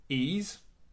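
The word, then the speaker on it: Ys: facts uh it's pronounced ease long sound long e sound hard s the best description ever like the word geese without the g e e yeah so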